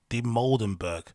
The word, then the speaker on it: Dimoldenberg: Dimoldenberg.